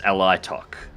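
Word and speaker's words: Alaitoc: I've actually been pronouncing the name of the favour wrong too. It's Alitok.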